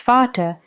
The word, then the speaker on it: Vater: In German, Vater, pronounced Vater, and Mutter, pronounced Mir, and so on in many other languages.